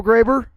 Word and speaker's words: Graber: So Graber, pronounced it correctly that time, right?